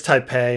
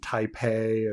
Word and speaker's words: Taipei: we go and here's taipei and thai and taipei taipei taipei the pay the pay in taipei is the same bay as in beijing it's just that they're on two different romanization systems and so you we